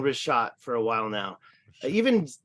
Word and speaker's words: Richat: pronunciation. I do Oh. understand Richat and it's they say Richat. So I've been saying Richat for a while now.